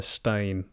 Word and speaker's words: Berenstain: I didn't remember spelled with a steen or is it a stain? I can't remember which one it is. Yeah, it's like Stein, like Einstein, right? No, it's not. Stain. Oh, stain.